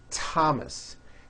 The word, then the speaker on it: Thomas: spelled with a th they are pronounced as if they were spelled with a normal T like that and these words are Thomas Thompson Teresa Thailand Thames